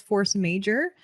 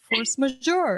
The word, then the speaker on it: force majeure: in random photography groups, I thought it was force major. And then I realized it's force majeure.